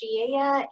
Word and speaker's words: Velez: Hi everyone, Velez, pronounced Shieya, and I'm calling in from Lancaster, Pennsylvania, Central PA.